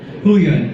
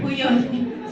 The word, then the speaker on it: Huion: Sorry, how do you pronounce it? Huion. Huion.